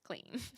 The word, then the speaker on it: Clem: So it is spelt C-L-E-M, but God. But people have just been saying it incorrectly. Just because it's spelt like how you would think Clem is, it's still spelt the same. It's just pronounced Clean.